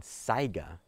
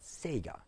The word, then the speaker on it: Saiga: I'm a stickler for correct pronunciation, hence why the Lapois, the Loophole, the Hornady, and Saiga, not Sega.